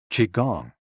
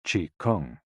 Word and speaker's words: Qigong: them down slowly returning to your initial position Qigong also known as Chi Kung its name combines Chi life force or energy